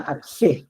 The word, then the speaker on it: arché: Una que es bien antigua, que es de la filosofía griega, que viene de esta palabra que se llama arg, que se escribe arché, ¿ya?